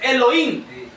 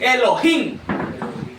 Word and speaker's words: Elohim: Fíjense, no es Elohim, él es Elohim. Se fijan que la arche sí tiene pronunciación, tiene sonido, mejor dicho. Amén. Amén. Tiene un sonido. Elohim. Porque si dijéramos solo Elohim, no se toma en cuenta en lo absoluto la H. Pero si tomamos en cuenta la H se se pronuncia Elohim.